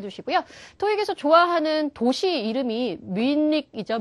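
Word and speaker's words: Munich: 꼭 기억을 해 주시고요 토익에서 좋아하는 도시 이름이 미닉 이죠 미닉 미닉 그래서 민이에요 우리나라말로 발음으로 해본다면 헨이 또 미헨 말고도 미닉이라는 발음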